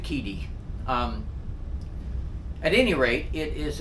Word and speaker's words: QIDI: Some people say it Kidi, some people say it Kudi, I don't know. I try to pronounce it Kidi.